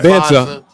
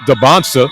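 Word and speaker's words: Dybantsa: I've been saying Dancer all this time and it's pronounced Debonsa.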